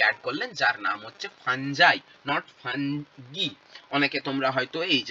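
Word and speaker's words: fungi: পাঁচখানা কিংডম বানালেন এবং পাঁচটা কিংডম তিনি বললেন যে নতুন একটা কিংডমকে অ্যাড করলেন যার নাম হচ্ছে ফাঞ্জাই। নট। অনেকে তোমরা হয়তো এইচ এস লেভেলে বলে এসেছ ফাঙ্গি।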